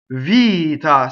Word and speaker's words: vita: again does not double villita single t single T versus tt-to so you go up to the TT you don't say it you stop for nation not a TT right Vita single t you can hear a